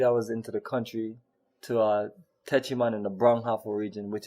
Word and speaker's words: Techiman: You can type in Techiman, T as in Tom, E as in Echo, C as in Charlie, Himan. It's worded just like it's pronounced, Techiman.